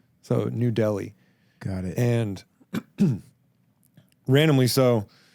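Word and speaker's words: Nu Delhi: It's called New Delhi, but it's spelled N-U, like new metal. So New Delhi.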